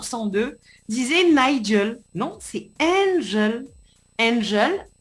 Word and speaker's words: Ngel: ton pseudo radio et au lieu d'écrire Angel, N-G-E-L, le mec, il te met Nigel, N-I-G-E-L. Et là, tu fais wow. Oh, on se réveille. C'est Angel. Mais non, il nous la prononce à l'anglaise. Nigel.